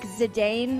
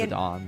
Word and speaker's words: Zidane: Like, Zidane was another one. Literally everyone on Zidane, the... Zidane. Zidane is apparently the pronunciation.